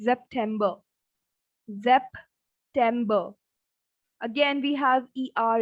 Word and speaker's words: September: Again, we have the same spelling, but for S, we have the sound of Z. So it's September. September. Again, we have ER in the end. So it's not bar. September.